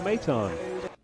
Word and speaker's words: Maton: Madden last name let let's hear how it's pronounced out number two and that's three consecutive strikeouts for Phil maton close you know what I'm going to sck